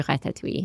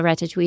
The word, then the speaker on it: ratatouille: Say how I feel like I say it all in one syllable. My French accent is also terrible, so any native French speakers are going to correct me, but I say ratatouille.